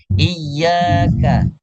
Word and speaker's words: إياك: Jadi, hamesnya K adalah hames huruf K yang punya sifat hames paling kecil desisnya. Jadi bacanya biasa saja. Iyyaka, iyyaka. Jadi seakan-akan sebenarnya kalau kita membaca huruf K biasa saja K, itu sudah ada hamesnya secara otomatis, namun kecil sekali. Tapi tidak boleh dipaksakan.